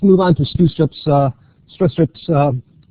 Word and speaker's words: Stroustrup: on to st's uh stress strips um it's it's a stress strip not strw STP if you want to